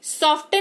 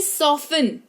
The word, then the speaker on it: soften: किसी शब्द में टी के ठीक पहले एफ या एस लगा हो तो टी साइलेंट होगा। जैसे सॉफ्टन नहीं सॉफिन, है ना।